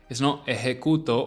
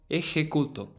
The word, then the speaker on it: ejecuto: The J in Spanish, J, sounds similar to the H in English, but a little bit harsher, though not too much, not too harsh. Try and mimic a cat's hiss, for example. It's like a it's not overtly harsh, like it's not too soft, it's not ejecuto or ejecuto, it's ejecuto.